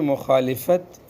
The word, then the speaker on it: مخالفت: زور چلانے لگو گے۔ یہ لفظ جو مخالفت، یہ اردو میں جو اردو والے بولتے ہیں غلط بولتے ہیں، یہ مخالفت، لام پر زبر ہے، یہ مخالفت عربی کا لفظ ہے، یہ اصل تلفظ اس کا مخالفت۔ اور دوسری مرتبہ شریعت